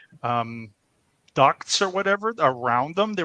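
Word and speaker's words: DUKW: as the the duck the duck W you know the Ducks pronounced duck those words those were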